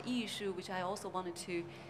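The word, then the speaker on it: 艺术: French um and then issue is actually the Chinese pronunciation for art and in German speaking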